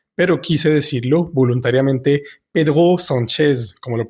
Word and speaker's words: Pedro Sánchez: Pedro, Pedro, y S-A-N, la A-N es una vocal nasal, normalmente diríamos son, y la Z siempre va a vibrar. Entonces algo así sonaría como Pedro Sánchez, pero perfectamente puedes decirlo Pedro Sánchez.